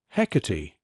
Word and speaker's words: Hecate: "Hecate," he said, with the old rough breath on the first syllable.